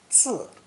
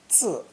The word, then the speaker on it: 字: This character is pronounced fourth tone, 字, 字. On hearing this pronunciation, we